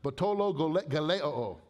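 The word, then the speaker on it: βατταλογέω: Batologeleo in Greek. It sounds like what it means. It's an onomatopoeic word.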